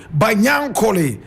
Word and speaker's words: Banyankole: Now Banyankole is spelled Banyankole. Banyankole.